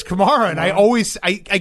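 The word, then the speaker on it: Kamara: I can't I can't say Alvin Chimera's name. Is it not Chimera? It's Kamar.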